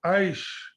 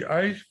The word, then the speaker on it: Aichi: As back as 2010, International Convention in 2010 of 170 countries held at Aichi, I don't know how it is pronounced, A-I-C-H-E, Aichi, in Japan, Aichi, had resolved to conserve global biodiversity.